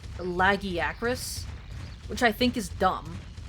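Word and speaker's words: Lagiacrus: Although apparently, according to Monster Hunter Wilds, apparently it should be pronounced Lagi Acris, which I think is dumb. Like, nobody reads that name and says, "Oh yeah, it's pronounced Laggy Acris."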